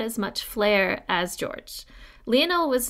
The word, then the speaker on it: Lionel: had passed away 2 years earlier I have pronounced his name earlier as Lionel but I have since learned via Katherine Warner's book John of gaun that it's pronounced Leonel as she says quote Leonel Messi not lonol